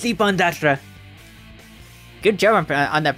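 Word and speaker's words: Ippon-Datara: Ooh, it's Ippon Dattara. Good job on that pronunciation.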